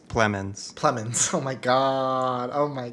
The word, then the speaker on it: Plemons: And I'll also say Jesse, how do you say his last name? Jesse Plemons? Plemons.